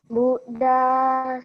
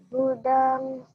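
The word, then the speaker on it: buddhaṃ: M titik atas dibacanya ang. Berarti bacanya apa, Justin?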